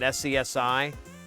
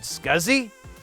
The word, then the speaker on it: SCSI: like three or four years of my life pronouncing at SCSI until someone said dude are you talking about scuzzy yeah what did I say I think you